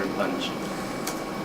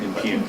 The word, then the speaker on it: impugn: The motives of another member should not be attacked or impuged. I think I said that wrong. Impugn. Impugn. That's how you spell that word.